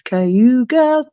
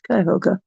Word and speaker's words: Cuyahoga: She even mentions Cayuga Falls, but she pronounces it wrong. It's Cuyahoga.